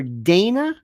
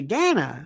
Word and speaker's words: Dana: and by the way it's Dana Bash they call her Dana nothing it matters you would think somebody would have heard her say Dana that's the way she pronounces it I don't know why